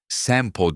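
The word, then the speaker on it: 千畝: Birçok kişi onu Sempo diye hatırlıyordu. Çünkü Sugihara ismindeki karakteri o şekilde de okutuyordu.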